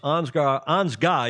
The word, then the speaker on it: Ansgar: Oscar Engstrom from Sweden, Tom Fouché from France, Ansgar, he doesn't pronounce the R, it's a German name, a German family living down in San Diego, Coronado Yacht Club.